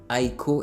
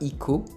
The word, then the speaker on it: Heiko: ce que heiko bon apparemment c'est comme ça qu'il faut prononcer son nom highco et non pas ico 1 il fait des